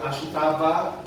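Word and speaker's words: 明日: Ang ibig sabihin ng Ashita, or sa Japan po, ang pronunciation nila ay Ashita.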